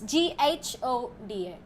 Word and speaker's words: Ghoda: No, it's GHODA. G. Goda. Okay. Ghoda. Goda. Ghoda. It's like Yoda.